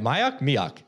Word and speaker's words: Mioch: Did I pronounce it right? Mioch? Yeah, Mioch.